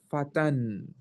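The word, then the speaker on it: فتى: So singular word is fata, like this. But actual, if you want to pronounce everything, you say fatan.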